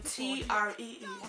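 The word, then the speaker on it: Twi: You know, people say tree as in T-R-E-E. It is tree, T-W-I.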